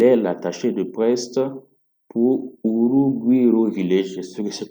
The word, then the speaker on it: Urugwiro: Et là, bingo, elle est l'attachée de presse pour Urugwiro Village. Je sais que c'est comme ça que ça se prononce.